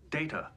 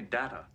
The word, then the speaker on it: Data: It is pronounced Data. Oh? You called me Data. What's the difference? One is my name. The other is not.